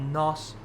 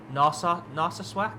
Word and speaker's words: Narsarsuaq: This is taking us from Greenland, not Nos. I can never pronounce it. I even learnt this last stream. Narsarsuaq in Greenland to Goose Bay in northern Canada.